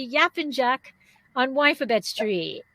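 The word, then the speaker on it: Yapıncak: be talking about if i say it correctly yap and jack on wifibed street right did i say it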